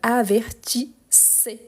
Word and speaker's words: avertissez: Mais ici il a un double S. Donc avertissé.